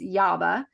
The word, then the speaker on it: YAABA: It's YABA, and it's spelled YAABA, and it's an acronym for an empowering phrase, which is "You are a badass."